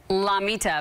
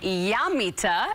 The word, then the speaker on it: Llamita: translates to little llama so I say la Mita but really to pronounce that you say yum Mita and it's located at